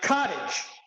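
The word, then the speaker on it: Codedge: chat GPT realized that the name Cod Edge pronounced sounds like Cottage yeah you know so I'm like oh that's good because now because it's pronounced as cottage it's it more invokes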